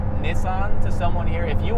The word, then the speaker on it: Nissan: But I'm still going to pronounce it Nissan just because.